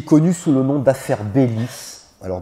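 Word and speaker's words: Beilis: importance qui est connu sous le nom d'affaires bellis alors bellis ça s'écrit behe crie elle y s et l'iss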